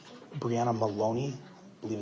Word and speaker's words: Maloney: Yes, I went back to speak with uh the U-Haul employee, Briana Baloney, I believe that's how you pronounce her name. Brianna Maloney, I believe it's M A L O N E Y.